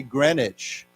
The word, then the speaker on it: Greenwich: So it's pronounced actually Greenwich.